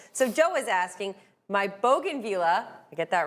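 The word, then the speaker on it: bougainvillea: So, Joe is asking, "My bogan villa, I get that right.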